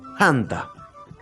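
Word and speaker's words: thanta: es una exclusiva aspirada quiere decir que se va a pronunciar con un ligero soplido con un ligero soplido Sí o sea va a ser tanta tanta usado es una t con soplido Tanta y bien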